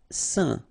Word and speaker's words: saint: Saint. Okay, combination of A, I, N phonetically will give you this pronunciation.